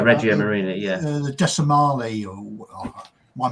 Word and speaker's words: Regia Marina: Again, the Italian Navy, is it Regina Marina? I'm trying to think how to say it. Regia Marina. I keep thinking. Yeah, Regia Marina.